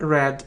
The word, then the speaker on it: read: in English you see we pronounce these forms differently read but red red okay my friend more